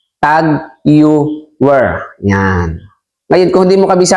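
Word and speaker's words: TAG Heuer: relo pamimili ng alahas Marami pong nagkakamali sa pronunciation o pagbasa ng tager ito po kasi ang spelling na tager May nagsasabi po na p may nagpapagawa saako ng relo Magkano daw po ang gawa ng kanyang tag hyer ang iba hindi lang po ako nagsasalita meron namang isang tagger ang iba naman tagare ngunit ang tama pong pagbasa diyan at pronunciation po niyan is tag yan ngayon kung hindi mo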